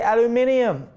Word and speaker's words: aluminium: One other major change for the 2016 XF will be its all aluminum chassis, or as you folks across the pond say, aluminium. You add an extra I, but I don't complain.